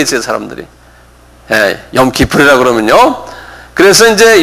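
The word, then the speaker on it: יום כיפור: 욤 기프르. 요건 그 통째로 그냥 외우셔야 돼요. 욤 기프르. 한 발음해 보세요.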